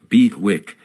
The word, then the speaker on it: BWIC: BWIC, pronounced BWIC, came into common use, an acronym for bid.